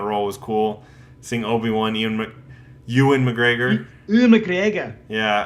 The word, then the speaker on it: Ewan: Yeah, I always said Ewan, He's out of and my then league. Ewan McGregor. and then everyone's like it's Ewan, and I'm like, oh, okay. I guess I'll pronounce it correctly from now on. But I've been saying it wrong for years.